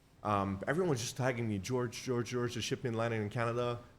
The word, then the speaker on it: Georges: It's George. I know there's an S in my name, but it's George, not Georges. The S is silent.